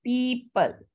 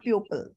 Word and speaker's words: people: sound will be there okay people people not pupil okay people okay the pronunciation it's very